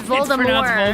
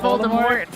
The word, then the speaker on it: Voldemort: The T the T is silent. That's the one that I don't like. So, it's Voldemort. Voldemort and not Voldemort.